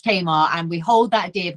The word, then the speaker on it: Tamar: a lot and also I'm very offended by both your pronunciations of Tamar Bridge as a proud Cornish person it is very much Tamar and we hold that